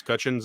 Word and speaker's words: Cutchin: of my head and now we discovered it's cutchens i'm like dang it um i'm super embarrassed